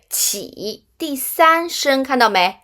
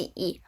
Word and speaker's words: 起: là guān xì không đúng chữ Hán này đọc là có phải lại quên rồi không qǐ, đúng rồi, qǐ là thanh ba, thấy chưa, qǐ qǐ b u bu d uì duì Mặt khác,